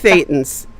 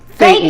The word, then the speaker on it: thetans: titans or titans, or how do you even pronounce that word? Technical issues? No, that body titans, titans, Oh, body titans, thetans. Thetans, titans. There you yes. go. Thetans, yeah.